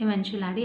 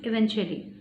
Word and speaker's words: eventually: She was a little child, so she pronounced it eventuality. Actually, it is eventually.